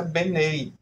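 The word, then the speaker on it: בְּנֵי: E aqui na forma construtora, que é traduzido como os filhos, fica com a pronúncia Benei.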